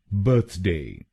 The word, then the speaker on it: birthday: तो बनेगा बर्थडे। बर्थडे। बर्थडे। बर्थडे। बर्थडे। बर्थडे। और ये ध्यान में रखिए कि हमको पहले शब्दांश पर यानी BIRTH पर जोर डालना है।